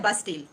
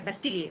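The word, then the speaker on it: Bastille: इसको कहा जाता है बास्टील। अब इसको आप बास्टील कह सकते हैं, बेस्टील कह सकते हैं, लेकिन अगर आप फ्रेंच इसका प्रोनाउंसिएशन पूछेंगे तो वो है बेस्टिलिए, उसको बोलते हैं बास्टिलिए।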